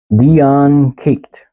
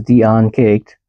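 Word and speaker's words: Dian Cecht: Dian Caked. I'm gonna go with caked. That's what it looks like to me, but it's spelled D-I-A-N-C-E-C-H-T.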